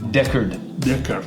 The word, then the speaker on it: Decherd: Me cuesta trabajo la pronunciación de tu apellido. ¿Cómo es tu apellido? Sí, está bien. Deckard.